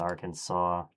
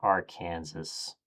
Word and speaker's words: Arkansas: Go with Arkansas. It's pronounced Arkansas, not our Kansas.